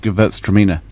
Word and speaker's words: Gewurztraminer: and yeah tram minor yeah and so it's pronounced Gewurztraminer and it's a German Alsatian kind of grape